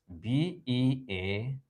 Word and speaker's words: beard: B-E-A-R-D is pronounced, is it bird? Is this thing I'm touching at? Or I'm touching rather? This thing I'm touching. Is it a bird or a beard? It is a beard. Beard.